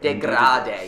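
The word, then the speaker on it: dégradé: Is that how you pronounce it? Degrade. Degrade.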